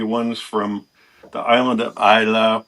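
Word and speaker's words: Islay: Uh, you want you want one of the smoky pey ones from the island of Isa, which isn't spelled like Isa. It's spelled I S L A Y.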